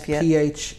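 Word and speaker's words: Phan Thiết: It's Phan Thiet.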